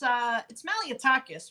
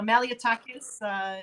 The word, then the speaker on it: Malliotakis: We say Malliotakis. I wonder what your grandparents say. I bet it sounds a little different. Well, it's Malliotakis, really.